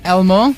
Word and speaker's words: L-Mo: Studio now by the band that is Elmo. Is that how you pronounce it? Yeah. As in the Sesame Street character.